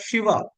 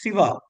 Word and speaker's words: Siva: friends in North India, they used to pronounce it as Shiva. They don't pronounce it as Siva. In Tamil, it is Siva. In Hindi, it is Shiva.